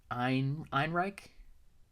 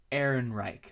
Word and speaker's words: Ehrenreich: It was, and stay with me here, Alden Einenrick. I don't know how to pronounce it. It's the dude from Hail Caesar, the cowboy, who was really good in Hail Caesar. Ehrenreich? Ehrenreich.